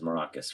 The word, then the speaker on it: Maracus: Your last name is Maracus, right? Yeah, so it's okay. I said it right.